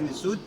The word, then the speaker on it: Nissout: Un roseau, c'est un mot prononcé Nissout. Et une abeille, c'est un mot prononcé Nepti. Nissout, Nepti, ça veut dire la haute et la basse.